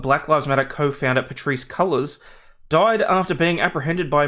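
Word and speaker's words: Cullors: you're probably not wrong colors pronounced as colors I swear if you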